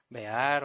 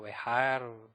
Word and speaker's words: Behar: Así es, pues hoy vamos a estudiar la porción de la Torá llamada Bear o Bejar, pues hay diferentes formas de pronunciarlo.